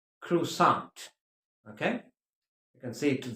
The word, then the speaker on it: croissant: So do remember it's pronounced croissant.